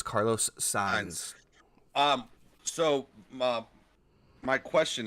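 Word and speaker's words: Carlos Sainz: uh April 2nd and apparently and apparently it's Carlos signs is how it's pronounced I was just informed by my F1 expert that we were saying it wrong it's Carlos signs um so Mom my question is two weeks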